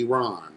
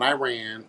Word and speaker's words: Iran: Let's say it correctly. Iran, not Iran.